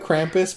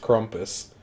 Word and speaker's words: Krampus: corrales crumpets yeah but it looks like Krampus but I think it's pronounced Crump asst yeah like the accent like rumpus yeah that looks awesome